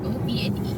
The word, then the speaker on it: åpne: It's åpne But it's not like that, it's something with an A in it If there is a circle above the A it is pronounced as O.